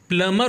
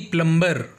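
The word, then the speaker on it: plumber: प्लमर को किसे प्लमर क्योंकि इसका सही प्रोनंसिएशन प्लमर होता है ना कि प्लंबर क्योंकि पी एल यू एम बी ई आर में बी साइलेंट होता है इसे पढ़ा नहीं जाता या बोला नहीं जाता तो अब से आप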